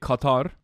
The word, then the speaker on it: Qatar: How do you actually pronounce Qatar? It's Qatar. In Turkey, we say Qatar, but I think it's Qatar from the Gaza Strip